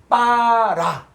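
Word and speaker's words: בָּרָא: 그리고 이게 또 히브리어에 이제 이 하나하나 이제 봐야 되는데 요건 이중점이라고 해서 비읍인데 요거는 비읍을 2개 써라. 그래서 어떻게 하냐? 빠라. 이렇게 되는 거예요. 빠라.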